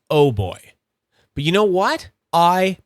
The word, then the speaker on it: OooBoy: It's not pronounced oo boy. It's pronounced oh boy.